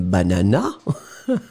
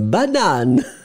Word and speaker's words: banane: Donc faites attention Stardust, hein, ça n'est pas une banana, mais c'est une banane à la française s'il vous plaît.